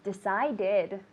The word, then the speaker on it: decided: to accept the job it's not fast it's an extra syllable so don't say I decided it's decided okay it's an extra